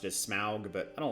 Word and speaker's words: Smaug: I know that sometimes they pronounce it as Smaug, but I don't like it.